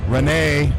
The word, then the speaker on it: Rene: and back at it Renee not Pierre Renee sorry Rene I was trying I